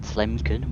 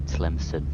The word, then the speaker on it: Tlemcen: I was gonna say Tlemcen, but it's actually Tlemcen, so saved by Google.